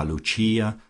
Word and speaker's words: Lucia: intimate of her subjects as Lucia, pronounced, of course, in the Italian mode, La Lucia, the wife of Lucas.